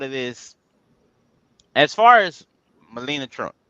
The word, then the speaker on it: Melania: Go ahead, get your piece of it, Melania Trump. Hey, get it. Hey, and you know what? One of the articles that came out about Melania.